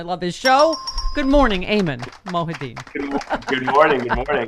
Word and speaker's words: Ayman: i got to do eamonn mohiti's show on msnbc saturday night his producers in my ear did say stephanie it's eamon i don't know what